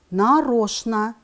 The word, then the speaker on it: нарочно: Пишем «нарочно», произносим «нарочно».